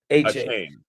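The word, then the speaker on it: Achane: Devon A-Chain. A-Chain. A-Chain. Yeah, it was. Yeah, he changed. He wanted the pronunciation different. It was he was called A-Chain forever, and now he wants it A-Chain.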